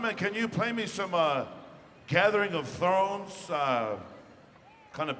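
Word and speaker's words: Tso: You're going to be singing off first, but So. So. And that's spelled T-S-O. That's a Navajo thing.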